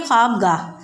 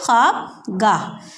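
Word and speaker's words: خوابگاہ: ख्वाब, इसे हम ख्वाब नहीं पढ़ेंगे क्योंकि वाव इसका थोड़ा सा हम साइलेंटली बोलेंगे। ख्वाबगाह क्या बोलेंगे हम इसे? ख्वाबगाह।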